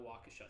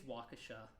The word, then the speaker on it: Waukesha: I think it's Waukesha. I mispronounced it when I was talking to you about it. I'm pretty sure it's Waukesha.